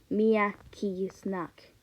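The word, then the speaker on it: мягкий знак: Keys knock like that so you have to say it like Mia key snack Mia kiss knock is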